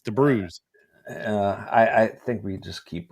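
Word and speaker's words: de Brueys: I've been calling him Warren Debrueys for I don't know, Debrueys or Debrees. It's Debrueys.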